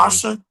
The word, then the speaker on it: Asha: know if I I don't know how to pronounce her name properly. Asha. Asha.